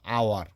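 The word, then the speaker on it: hour: যেমন আপনার অনেক ক্ষেত্রে মনে হতে পারে যে সাউন্ড হয়, কিন্তু অনেক ক্ষেত্রে অ হয়, যেমন আওয়ার। তো এটা কিন্তু উচ্চারণ, এটা এইসের সাউন্ড স্বাভাবিকভাবে হ হয়, কিন্তু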